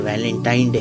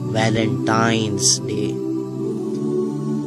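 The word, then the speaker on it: Valentine's Day: नाम पर गौर करें इसे जो आम कहा जाता है यह वैलेंटाइन डे है लेकिन हकीकत में जो इसका प्रोनाउंस एशन है वह है वैलेंटाइंस डे य एक वैलेंटाइन वाला दिन है और उस बदबख्त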